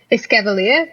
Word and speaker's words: Escavalier: Escavalier, is that how you say it? It's like escargot and cavalier, right?